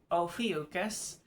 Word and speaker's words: Ophiuchus: It is pronounced Ophiuchus.